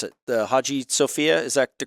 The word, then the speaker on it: Hagia Sophia: We went to see some of the I forget how to pronounce it. The Hagia Sophia, is that the correct pronunciation of that?